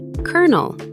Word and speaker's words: colonel: Sounds exactly like the word colonel. Pronounced colonel.